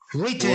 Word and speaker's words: written: Write, written. Right. Written. Okay. G, no. You say Written. right. You don't pronounce the W. The W is not pronounced.